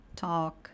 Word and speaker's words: talk: A gente também tem um grupo de palavras em que o nosso L vai ser mudo. Então são palavras como walk, talk.